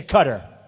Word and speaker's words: Qatar: the airport in Qatar which they say cutter I've always said guitar so what the hell